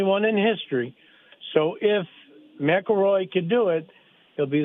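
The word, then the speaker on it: McIlroy: Macaroy, yeah.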